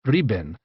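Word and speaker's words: 日本: country in japanese nippon in modern mandarin this is pronounced riben but in tang dynasty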